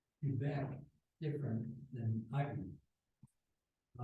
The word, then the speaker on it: Quebec: They have a pronunciation guide, and it's pronounced the way the ARRL wants you to say it, Quebec.